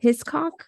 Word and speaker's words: Hiscock: the one by um Murphy hand Hancock Murphy hiscock it's probably not how you say it I'm